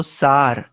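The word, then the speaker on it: sour: कोणकोणत्या चवी असतात आंबट आंबट चा उच्चार होतो सार स्पेलिंग जरी एस ओ यु आर असलं तरी उच्चार मात्र सार होतो खारट म्हणजे सॉल्टी सॉल्टी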